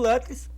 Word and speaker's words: Lutris: Eu estou tendo um cuidado de fazer a pronúncia correta das palavras. Tá? Ele vem com o Lutris, que é uma launcher local para jogos, para